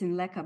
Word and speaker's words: Sinlaku: I always say it's Sinleka because that's how I was taught the correct Kusraya pronunciation.